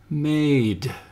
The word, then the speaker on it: made: from a to a the word now has four letters but only three sounds because the E is silent the sounds are um and the word they make is made let's switch the D